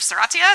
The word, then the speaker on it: Serratia: And so I say Serratia, I did a Twitter poll, and the majority of people said it's pronounced Serratia instead of Serratia, so I apologize to the non-US folks.